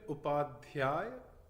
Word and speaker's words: Upadhyay: It's Bipin Upadhyay. The problem is the DH sound doesn't exist in most languages.